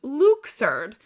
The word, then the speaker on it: Luxord: Okay, and then Luxord, I wrote, it might be easier to remember his name as Luxord because he's a gambler, but it's officially pronounced Luxord, which many fans think is an absurd way of pronouncing his name.